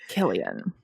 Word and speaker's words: Cillian: Killian.